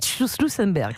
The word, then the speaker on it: Schussenberg: Un peu difficile votre nom à prononcer, je dois l'avouer. Schussenberg, c'est comme ça.